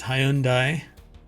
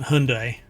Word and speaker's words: Hyundai: Nike it's called Nike how to say Hyundai it's Hyundai I mean it's three syllables not Hyundai right which most people I